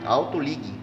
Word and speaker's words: AutoLig: É só digitar no Google, Autoligue Presidente Prudente. O ligue no fim, o G é mudo, tá? Autoligue, é só ligue, né? Só um Gzinho no fundo, é mudo no fim, tá ok?